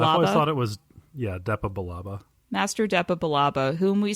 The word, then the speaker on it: Depa Billaba: And Master, do we know how to pronounce her name? Depa Billaba. I always thought it was Depa Billaba.